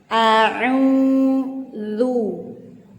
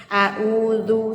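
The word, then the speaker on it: أعوذ: Ain itu harus benar-benar jelas teman-teman. Gimana huruf ain itu tempatnya di tengah tenggorokan ya. Jangan sampai kita melafazkan ain itu sama dengan hamzah atau alif. Jangan sampai kita bacanya sama. Misalkan a'udzu, salah ya.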